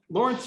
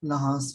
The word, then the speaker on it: Laurence: guest which is um lawrence and am i pronouncing your name right lawrence um no but that's okay how do how should i pronounce it uh it's pronounced lahars oh really oh my